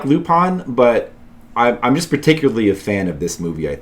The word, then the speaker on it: Lupin: I used to think it was Lupin and then I learned it was actually pronounced Lupon because it's like French.